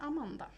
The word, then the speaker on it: Amanda: And yeah, there's a bit of a difference in the pronunciation of my name. The Swedish pronunciation is Amanda.